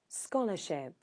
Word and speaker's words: scholarship: Where's the stress? Second syllable. Scholarship. Scholarship, that would be the second syllable. Scholarship. First syllable. Yeah, because if you hear it, Scholarship. scholarship. Scholars. Maybe there is no What's- sound. Only stress. Is it? Yeah, it's the stress.